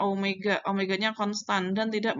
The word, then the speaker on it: Omega: umega ya kayak gue tapi bukan weyya bacanya Omega Omega nya konstan dan